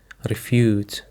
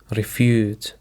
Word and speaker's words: refute: Now for the seventh word that we have is refute. Refute. The stress is on the second syllable.